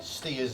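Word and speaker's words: Staithes: Village of STS steers as it's pronounced locally in fact in America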